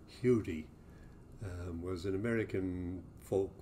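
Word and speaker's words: Huddie: william ledbetter uh uh as i believe he pronounced it himself hudi um was an american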